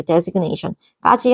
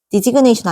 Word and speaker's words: designation: 그래서 명사는 designation 하면은 그냥 지정한 거 이렇게 표시해서 너 이거 해 이렇게 지정해 주는 거 이렇게 designation까지 하시면 될 것 같아. 발음 대라고 했었대. designation 아니야 designation 요거야.